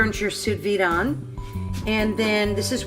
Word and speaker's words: sous vide: if you're wondering what to vide cooking is sous-vide is spelled sou SB IDE and it's pronounced sous-vide